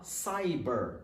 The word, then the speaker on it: Cyber: a pronúncia da palavra primeiro Cyber tá saiba Cyber a minha alma da palavra Parque tão tudo junto sai daqui sai daqui